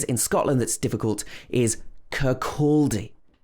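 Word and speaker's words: Kirkcaldy: scotland that's difficult is curculdi this is pronounced with stress on the second syllable curculdi kurkuldi not kirk caldi if you're visiting scotland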